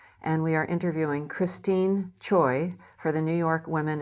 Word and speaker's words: Choy: And Chai and Choi is the same Chinese character. However, the Koreans pronounce that in America as choi.